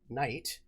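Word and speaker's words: knight: There were things that we pronounced differently, like we pronounce night, K-N-I-G-H-T, night, but in German the word night is Knecht, and we actually did pronounce night closer to Knecht back in the day, And our GHs used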